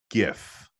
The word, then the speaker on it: GIF: do you pronounce gif do you pronounce it with a hard g like i do like gif or do you say jif like the peanut butter